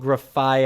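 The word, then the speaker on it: Grafaiai: good they do say it so it's called graphi I was about to say I'm going to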